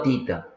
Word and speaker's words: theta: Teta o tita. Se escribe THETA, por eso se dice teta también.